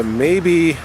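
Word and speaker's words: Mabie: Now, one of the very first, actually I think it was the very first, was the Maybe US, I think that's how you pronounce it, M-A-B-I-E, the Maybe Brothers US Olympic Circus.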